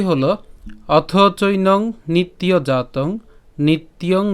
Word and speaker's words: নিত্য: এরপর নিত্য, নিত্য কেন? এখানে আমাদের জফলা আছে, আর জফলা উচ্চারণ আমরা জানি যে কার মতো হয়? ইয়র মতো হয়। তাহলে এটাকে আমরা কীভাবে উচ্চারণ করছি? নিত, এরপর হচ্ছে কি? ইয়, ঠিক আছে, নিত্য। তাহলে নিত্য জাতং।